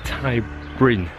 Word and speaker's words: Ty Bryn: It's the Thai Bryn. That's how you say it, bed and breakfast, right next to this main road.